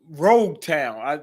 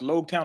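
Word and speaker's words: Loguetown: concerned that's basically her son okay he's blue Rogue town it's pronounced low town of Rota but that's the island where um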